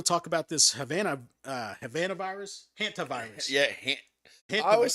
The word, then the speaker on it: hantavirus: But I want to talk about this Havana virus, hantavirus.